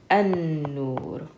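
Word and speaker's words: النور: So we skip over this lam, and instead of saying al, we say an. So this would be pronounced an-nur.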